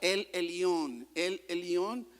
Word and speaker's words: El Elión: Y el primero de ellos es uno que se lee o pronuncia El Elión, ¿verdad?